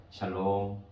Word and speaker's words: 샬롬: 샬롬. 발음을 잘 하셔야 됩니다. 샬롬이에요.